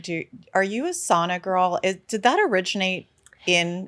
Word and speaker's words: sauna: they called it a sauna they said we were pronouncing it wrong it was actually sauna finished people safe sell